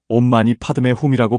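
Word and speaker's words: 옴마니파드메훔: 온마니반 매훔은 산스크리트어로 온마니 파드메훔이라고 발음합니다.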